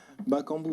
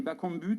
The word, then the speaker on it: Bakambu: le reste oui bonjour cédric déjà une la prononciation votre nom mais je suis journaliste aux radios ondimba kangoo ou bac en but bakambu bakambu cédric bakambu et bacon but ça ça vous plairait dans les semaines et